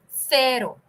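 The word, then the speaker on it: cero: sounds to Spanish uh it is c-e-r-o uh Spanish has a pronunciation which is distinct from English the C is called as a tongue in between the two tongue in between the teeth pronunciation so you take your tongue and you put it in between your teeth you say Cerro it's very funny uh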